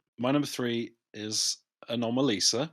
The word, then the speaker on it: Anomalisa: my number three is anomalisa which is how you pronounce it clay what did i say what did you say you said animalisa or something yeah oh i think